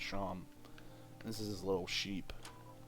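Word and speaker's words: Seam: No, I need to go talk to Seem, pronounced Sham.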